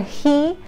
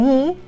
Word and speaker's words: he: nativo es el español, es que no lo pronuncian, hacen i o hacen he, ¿no? Entonces siempre decimos que la H es como un suspiro, ¿no?